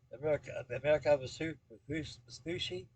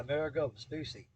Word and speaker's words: Amerigo Vespucci: And also, I'm thinking about finishing up that the America Vespucci. The America Vespucci, I can't pronounce it. Amerigo. Yeah, Amerigo Vespucci.